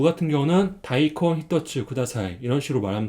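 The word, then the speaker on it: 大根: 것을 알 수가 있습니다 큰 대는 음독으로 다이라고 있고 그다음에 뿌리 그는 음독으로 콘이라고 읽어요 그래서음 다이콘이라고 있 있습니다 그래서 무 같은 경우는 다이콘 히츠 다사이 이런 식으로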